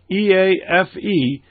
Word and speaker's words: EAFE: And the other one, the MSCI EAFE, and that's how it's pronounced, by the way, EAFE, stands for Europe, Australia, and the Far East.